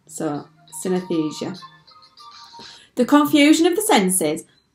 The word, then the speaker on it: synesthesia: how to pronounce synesthesia it sounds like anaesthesia but with sin at the beginning so synesthesia the confusion of the